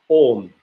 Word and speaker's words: Om: don't want to articulate, the only one is Om. We don't say Aum.